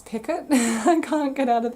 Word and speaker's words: picot: to catch on that it's actually a French word and it should be pronounced picot but to me it's just it's picot I can't get out